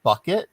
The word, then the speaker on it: Bucket: It's pronounced bucket, but she pronounces it bouquet.